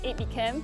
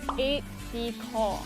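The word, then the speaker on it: aide-de-camp: pronounce A.D Kev well a lot of people think it's 8B camp but because it's a French word it's eight Decor thank you so much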